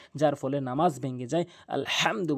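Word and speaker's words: الحمد: আলহামদু বলতে হবে। হা টি হলকের মাঝখান থেকে এভাবে বলতে হবে। হা এভাবে বলবেন। তাহলে আপনার সঠিক উচ্চারণ হবে।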